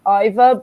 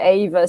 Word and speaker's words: Ava: i started out i i was calling uh ava iva but i did actually start out as ava and then i thought okay maybe the way it's spelled it should be iva but then and after saying it so many times i've gone back to ava so you know that